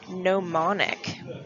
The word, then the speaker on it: gnomonic: projection is called a gnomonic so it's kind of like a garden gnome that's how you pronounce it and what you're gonna